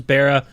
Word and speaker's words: Bara: he said it was Bara uh but he said it's fine if I he says people say bar all the time and I decided to